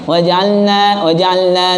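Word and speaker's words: وَجَعَلْنَا: Waja'alna naumakum subata waja'alna tidak jelas lamnya. Padahal bacaan lam dengan nun itu dibaca wajib ilhar, jelas ya, wadih, harus jelas. Waja'alna kita ucapkan waja'alna lagi waja'alna ya, lam dengan nun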